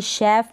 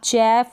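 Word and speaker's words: chef: कई स्पेलिंग्स होती है वहाँ पर हम CH को श पढ़ते हैं, जैसे कि शेफ में, शिफॉन और मशीन पे। अब यहाँ पर आप चैफ और चिपॉन या मशीन ऐसे नहीं पढ़ सकते, यहाँ पर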